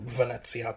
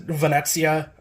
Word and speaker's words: Venezia: kind of focused around Venice or Venezia which ever pronunciation you prefer because of part five